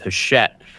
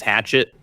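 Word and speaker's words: Hachette: Is that how you say it? You know Hashet. Hashet. Yeah. Yeah. It's Hashett. I always thought we we all including myself thought I was hatchet at first.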